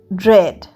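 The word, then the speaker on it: dread: ডি আর ই এ ডি ড্রেড ড্রেডেও এটা কিন্তু উচ্চারণ হচ্ছে না আমরা ড্রেড বলছি ড্রেড মানে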